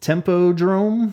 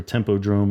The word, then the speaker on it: Tempodrom: the DVD the Tempo Tempo Jerome is that how you pronounce it Tempo Jerome arena in Berlin um even punching in pronunciation things for tempodrome it was tempodrome I was like okay I guess I'll say it like that every time it comes up so Temple drone Berlin